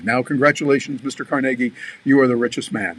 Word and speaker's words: Carnegie: century ago andrew carnegie people call him sometimes andrew carnegie well it was actually carnegie because he was scottish and that's the way they pronounced it but andrew carnegie